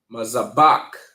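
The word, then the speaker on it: מזבח: All right, and it is pronounced mazabak. Mazabak. Okay. All right. So, to break this one down, we know that our first character is ma. Then we see zah. Okay. Then we see ba.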